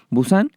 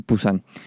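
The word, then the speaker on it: Busan: pulsan o de busán ya que en coreano se dice busán y en español pulsan eeuu al percatarse de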